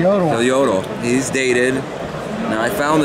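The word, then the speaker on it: Jodl: Striker donuts and then jodo y Yodo I always say it wrong everyone tells y Yodo he's dated now I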